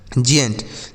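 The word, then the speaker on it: giant: आगे जी आई इ एन टी। जी आई ए एन टी इसे पढ़ा जाएगा जी एन टी। क्या पढ़ा जाएगा? जंट।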